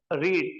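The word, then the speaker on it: read: What is main verb here, रीड, तो रीड का बन जाएगा रेड, क्या बन जाएगा, रेड। प्रोनाउंसिएशन जो है थोड़ा डिफरेंट है, बट स्पेलिंग सेम होगी।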